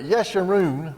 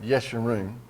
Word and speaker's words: Yeshurun: It says, but Yeshurun, that's how you pronounce that, Yeshurun.